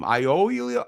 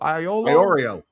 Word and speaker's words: Iorio: Iolio. Iolio. Iorio. Iorio. Iorio. Yeah.